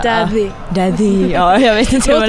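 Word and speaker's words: Daði: man uttalade det, för det är någon isländsk bokstav som ser ut som ett D. Men det var typ så här the. Det skulle vara typ så här, Daddy.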